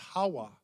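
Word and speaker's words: חַוָּה: and it's actually was in the old hebrews pronounced hawa which is roughly translated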